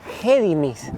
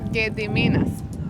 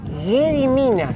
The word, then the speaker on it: Gediminas: Ahora debe ser un museo y es un lugar muy importante acá y se llama el duque de Gedimis. Gediminas. Gediminas. Sí, Gediminas. Bueno, tengo que aprender a pronunciar lituano.